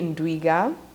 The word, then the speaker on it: Ndwiga: for this discussion is a special guest Ruthie Inda I hope I pronounced your name right yes you do yeah